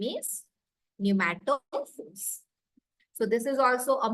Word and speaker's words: pneumatophores: Breathing roots or pneumatophores is the name of the term. So P is silent here, we call it as pneumatophores.